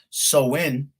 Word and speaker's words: Samhain: back into the ancient celtic festival of samhain pronounced so in all right the the celts all right who